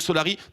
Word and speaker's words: Solari: Mais oui, donc Solari, sans Asa, mais avec Iwa.